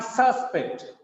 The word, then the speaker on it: suspect: He is the prime suspect. Suspect. The stress is on first syllable.